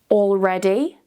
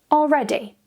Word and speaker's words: already: Already. Already. And make sure you're saying this one without the L really quickly.